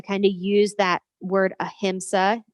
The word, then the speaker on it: ahimsa: if we need anything we need a little ahimsa in our world so let's uh go ahead